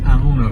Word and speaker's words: Ionia: And did you pronounce it Ionia or Iona? Iona is what we called it.